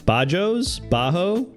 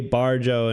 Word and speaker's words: Bajo: Bajo, but if you say Barjo in Australian accent, Bajo. It kind of sounds like that.